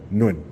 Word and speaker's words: Nguyen: Can you say it for me so I can know how to pronounce it? Stepping Wood. Nguyen? Yeah. Nguyen.